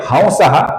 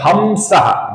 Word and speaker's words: हंसः: आगे जो शब्द है हंसहा, इसका कुछ लोग उच्चारण करते हैं हमसहा, जो गलत उच्चारण है दोस्तों। इसका सही उच्चारण है ह और अनुस्वार की जगह पर हल्का सा वो, हंसहा, हंसहा।